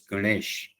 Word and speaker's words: Ganesh: So the pronunc pronunciation becomes Ganesha for uh western folks. Uh but in India the actual pronunciation is Ganesh.